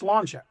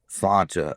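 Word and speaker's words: sláinte: But it's pronounced slancha. Slancha.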